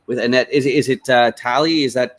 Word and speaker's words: Talie: Annette is it uh tally is that how you pronounce Italy Okay cool so the emphasis is on the second syllable gotcha here with Annette